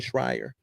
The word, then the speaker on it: Schreier: Schreier.